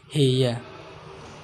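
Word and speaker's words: هي: yaitu Hoa yang kedua bahasa Arab fushah Kiya untuk penyebutan dia perempuan di sini dalam bahasa Arab amiyah nya yaitu tertulis dia namun pembacanya cara bacanya yaitu heya yang selanjutnya yaitu lafadz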